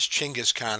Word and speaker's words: Genghis Khan: His name is Genghis Khan, or nowadays they pronounce it more as Chinggis Khan, and we'll get into that in a little bit as we go along.